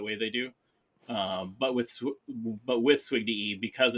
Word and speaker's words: SWGDE: People pronounce it all sorts of different ways, but I pronounce it SWGDE since I was in law enforcement.